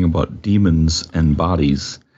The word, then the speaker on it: daemon: Well, the demons I was referring to in that passage are the in the Greek sense, the D-A-E-N. M-O-N, which is just pronounced demon. A lot of people like to say daemon or whatever, but it's just demon as well.